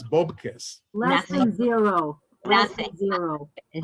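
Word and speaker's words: bupkis: Bubkiss. We in English we say bubkiss, but it's bobkiss.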